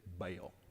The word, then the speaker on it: Baal: I've been told it's probably pronounced ball unless you're from Tennessee or we can say Texas and then it's Baal.